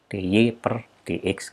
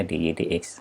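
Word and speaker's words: dy/dx: Ini tidak dibaca dy per dx karena ini bukan fungsi pembagian, tapi ini fungsi diferensial atau penurunan. Maka dibacanya dy dx.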